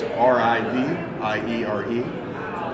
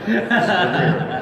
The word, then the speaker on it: Riviere: Riviere is R-I-V-I-E-R-E. So yeah, so the French are lazy, so they don't pronounce every syllable. Riviere, not Riviere, as some people think.